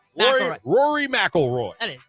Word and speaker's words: McIlroy: McIlroy. McIlroy. Rory McIlroy. That is not how it's spelled, but that's cool.